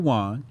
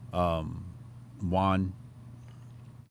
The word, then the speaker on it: yuan: says a Chinese central bank chief has claimed the digital yuan will revolutionize the way the nation makes retail payments and suggested the CBDC could one day completely replace cash.